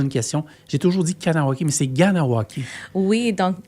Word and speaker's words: Kahnawake: Mais c'est Kahnawake. Kahnawake. Puis ça, c'est un mot Kanien'kehá:ka dans notre langue, c'est Mohawk. Donc, il faut que vous prononcez le H, puis les K comme un G.